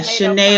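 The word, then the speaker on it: Sinéad: the singers uh I don't know how to pronounce her name Sinead the one who just passed Sinead O'Connor yeah SHINee O'Connor yes see I love her she just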